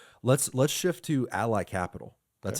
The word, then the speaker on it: Ally Capital: Let's let's shift to Ally Capital. That's how you pronounce it, right? Yeah. Ally Capital.